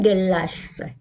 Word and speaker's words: glace: Une glace. هنا G نطقناها G. Une glace.